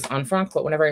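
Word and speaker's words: Anne Frank: the diary of Anfrank, which we are pronouncing correctly as Anfranc, but whenever I say the diary of Anfranc, people make fun of me.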